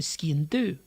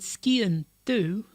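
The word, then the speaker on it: sgian-dubh: in the sock but if we said ski and do it would be a knife that is black i happen to have a cooking knife that is black it's a ski and do but it's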